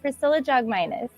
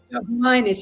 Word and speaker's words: Priscilla Jogminas: How do you pronounce your name? No, that's okay. It's Priscilla Jogminas. Jogminas.